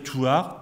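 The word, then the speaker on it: Thouars: Toir du petit donc du petit ça se prononce ti Toir th o u a R S qui va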